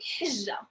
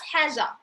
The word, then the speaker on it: حجة: Pronounce it right. It's not حاجة. It's not thing. حجة. حجة is the how it's like from Hajj.